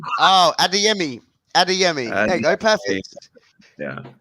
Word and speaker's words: Adeyemi: going to get the pronunciation of Google, isn't he? Yeah, I'm going to get it wrong. Oh, Adeyemi. Adeyemi.